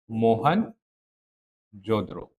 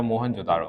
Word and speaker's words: मोहनजोदड़ो: मोहन जोद्रो या मोहनजोदड़ो आप दो नाम से किसी भी नाम से जान सकते हैं।